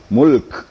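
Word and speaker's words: ملك: huruf lam dan Kaf Mulk Jadi kadang-kadang kalau tidak ada e kalau tidak diperhatikan baik-baik ya bisa kehilangan Kaf Mul gitu be nah ini Mulk Mulk gitu Jadi huruf-huruf yang sukunnya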